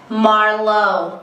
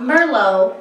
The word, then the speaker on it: Marlowe: No, it's Marlowe. Say my name, say my name. Not Merlot, like the drink.